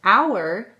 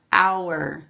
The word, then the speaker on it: hour: okay if you said our you're right the H is silent watch my mouth our you don't hear me say Howard it's our the HS silent this